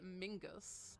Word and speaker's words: Menzies: his name because apparently Menzies was the name of a Scottish Clan and the pronunciation of this clan was actually a Mingus however we have never